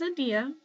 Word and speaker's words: Adelia: Oh, I think she just sent me a message because I didn't know how to pronounce her name. So hang on. Yeah, okay, I was right. Her name is Adia, and her URL is simply Adia.